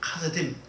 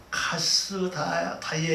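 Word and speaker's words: כשדים: 그 왕이 크게 소리쳐 그 마술사들과 카스딤 이게 원래 정확히 발음하려면 카스다이에 이렇게 발음해야 되는데 이 평소에 불리게 이렇게 불러요.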